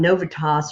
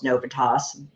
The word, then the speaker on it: Novitas: your head um that now I was on novas or novitas however you want to say it um they officially call themselves novitas because they say it like 90 times when you listen to